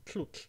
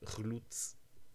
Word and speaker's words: tlhutlh: There are some sounds that the actor couldn't pronounce, such as the ones in tlut, to drink. The person said chlutz.